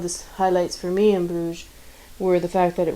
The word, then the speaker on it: Bruges: Many ways to say the name of that city, but I'm going to stick with Bruges for now. It's the French pronunciation, I believe.